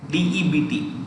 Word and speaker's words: debt: Any form of debt, DEBT, debt, B is silent.